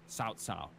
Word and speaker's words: Cao: It's cow, but it's got to be pronounced Cao.